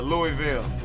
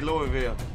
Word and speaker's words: Louisville: Kentucky uh Louisville yeah I'd say Louisville and that's only because I heard it pronounced like that so if I seen it I would say Louisville but fanatically speaking that is Louisville Louisville probably is you know people being lazy and not wanting to pronounce the Louis you know folk get